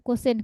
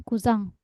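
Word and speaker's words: Cousin: ya of Me mainaninang bacanya bukan kusin kuzang oh oh serapan Prancis ya kuzang sama kuz ya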